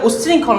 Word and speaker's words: উচ্ছৃঙ্খল: শব্দ উচ্ছৃঙ্খল না, উচ্ছৃঙ্খল, চ এবং ছয়ের উচ্চারিত হবে।